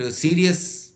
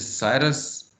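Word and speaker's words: Sirius: Cyrus is a tool, some people pronounce it सीरियस and some people pronounce it Cyrus. As a Pakistani, I don't like the word serious, so I'll call it Cyrus.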